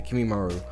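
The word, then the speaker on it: Kimimaro: name kimimaru oh yeah that's how you say kimimaru as he would actually appear right then and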